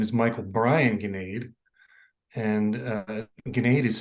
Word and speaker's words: Gnade: visited years ago and they said it's Gnade and g n a d so that was kind of strange but it actually makes a more sense because when I always give my name for any reason they always spell it I say ganade so they make it g n a d all the time and